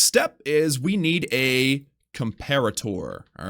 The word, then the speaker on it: comparator: Next step is we need a comparator, all right? I keep calling it that because it's funny, but it's actually pronounced comparator.